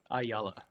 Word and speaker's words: Ayala: how do you say your last name one ayala ayala okay just want to make sure didn't want